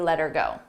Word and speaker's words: let her go: Let Her Go here notice how her sounds like er you don't hear the age ER but I also attach